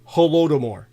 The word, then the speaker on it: Holodomor: Jewish word and it is death by hunger holodomor so in the halora more the Jewish Bolsheviks